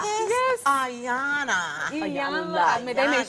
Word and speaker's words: Iyanla: Iyanla. Hey, I'm a pro, so you know we learn how to put it in. That's anytime. exciting. Do y'all hear this? Iyanla. Yes. Ayana.